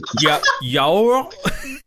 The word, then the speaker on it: yaourt: I don't know how to pronounce yogurt in French. Is this some kind of trap? No, it's really not. Yaourt. Yaourt. Here, let me... Yaourt. Yaourt. Yaourt.